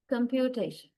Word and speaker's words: computation: Uh now in this word the there are so many syllables, right? Computation four syllables are there. That's a multi-elic word and in these four syllables we stress the the third one t it carries the strongest stress and uh the first syllable com is also stressed and that receives the secondary right the secondary stress.